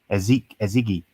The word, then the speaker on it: Ezighi: How do you pronounce that? Ezigi.